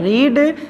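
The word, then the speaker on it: read: रीड, लेकिन इसका third form होता है, स्पेलिंग तो वही होती है लेकिन इसके पढ़ने का तरीका बदल जाता है। इसको पढ़ते हैं रेड।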